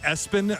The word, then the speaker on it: ESPN: He they pronounce it Espen, but it is all caps ESPN. That's his middle name. And the last name is what? Lamprin. Gideon Espen.